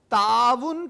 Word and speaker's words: تعاون: پاس آخری کثیر الانتخابی سوال موجود ہے، 15واں، تعاون کا درست تلفظ ہے، اسے آپ اعراب کہتے ہیں، تعاون،